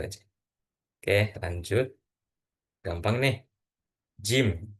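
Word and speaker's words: جيم: Jim, jim, jim. Jari-jari. Nah, itu ee huruf seperti huruf J saja.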